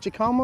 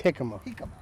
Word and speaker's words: jicama: a big one so do they pronounce it jakama or jicama it's jicama so i keep i keep